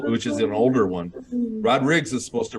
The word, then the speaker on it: Rodrigues: here it is official with the S on the end it's Portuguese um Portuguese lineage and it's pronounced Rod Riggs all right the rodriggs